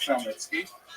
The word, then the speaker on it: Khmelnytsky: You may have seen his name in the literature spelled with a CH, that's a Polish spelling, Chmielnicki, but it's pronounced Khmelnytsky.